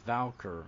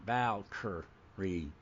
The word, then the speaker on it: Valkyrie: something like that yeah no it's valker valkery not Valk yeah he he pronounced